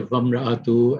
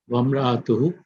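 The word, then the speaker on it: وَامْرَأَتُهُ: But if you have a waw before it and it has a fatha on it, so you would say wamra'atu, and the hamza would not be pronounced. Wamra'atuhu, hamma latal hatab.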